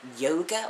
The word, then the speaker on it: Jóga: But the best song, in my opinion, is Jóga, or Jóga. It's spelled J-O-G-A, but the O has an accent.